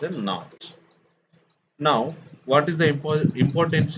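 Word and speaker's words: naught: is given now, but it should not be pronounced like a theta. It is not. What is that called? Not. Okay, it is pronounced as a not.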